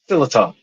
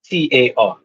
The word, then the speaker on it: sliotar: You can pronounce it the way you want. I'm not from Ireland, so don't kill Google me. says this. But I'm just Google says it's called a slitar, Slitar. All right. like a keytar. Either way, yeah, But yeah. So that's how either you way, pronounce it, like slitter, because it's yeah.